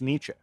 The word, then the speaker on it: Nietzsche: we're on the topic, his name does not look like it would be pronounced Nietzsche.